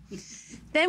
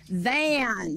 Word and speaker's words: than: The reason I say it like that is because it's not then. Okay, than.